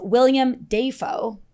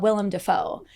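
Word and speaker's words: Willem Dafoe: at this old video at theat X, he pronounced his name as William Defo, which is not how you say it. But now as an adult, he talks about William Defoe.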